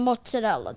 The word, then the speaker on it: mozzarella: first of all, it's prosciutto and mozzarella.